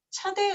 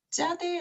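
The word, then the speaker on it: צדי: 보겠습니다 이름은 자대 이고요 여기에도 밑에 이제 점이 있어서 발음이 세게 되죠 그래서 차대 기보다는 자대 아고 쌍지 발음을내는게 맞고요 어 이것은 낚시바늘을 형상한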